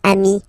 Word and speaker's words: ami: final s here okay but then technically you pronounce it the same way so sing form Ami plural form you add this s but it's Ami as well okay in that case